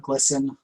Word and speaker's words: GLSEN: GLSEN, I think they usually call it GLSEN.